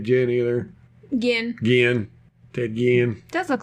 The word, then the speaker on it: Ginn: either again again Ted Ginn does look like Jim sure does this house pronounced Guillen again yeah he need to pronounce his name right like the liquor it's like the liquor